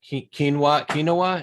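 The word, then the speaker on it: Keweenaw: out by the Lighthouse, which is on the Kinawa. Is that how you pronounce that? Peninsula. Yep. Kinawa Peninsula.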